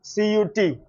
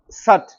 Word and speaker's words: cut: And another example I can give you is C U T. How do you pronounce this? Cut. It is not sut or soot, it is cut.